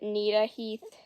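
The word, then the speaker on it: Gnita-Heath: going to pronounce it nah Heath cuz Nat is Begins the same the word natat begins the same way and I'm just going to do that cuz it's similar okay when the sixth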